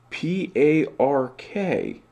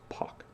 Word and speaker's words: Park: well in a lot of dialects of english p-a-r-k is pronounced poc and this is so much the